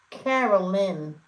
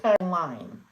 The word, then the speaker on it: Carolyn: I stopped pronouncing it Carolyn, not Caroline. Maybe that's why. Who knows? Not like the song.